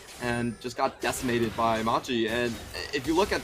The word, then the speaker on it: Machi: was so hard for machiax to actually execute any of this um i'm sorry i shouldn't pronounce the x machi e sports uh to execute silent right yeah yeah the x is silent this hasn't been the